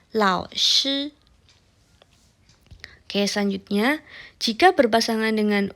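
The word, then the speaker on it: 老师: Misalnya, lao shi. Nah, lao shi. Shi-nya adalah SHI, dibacanya shi, bukan xi. Bukan lao xi, tapi lao shi.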